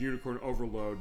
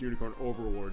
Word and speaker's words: Unicorn Overlord: We joked saying it was Unicorn Overload. Was like, "No, it's Unicorn Overlord."